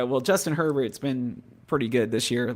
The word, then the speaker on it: Herbert: I love that you say it's not Bobby Hebert anymore. It's Justin Herbert. It's Herbert.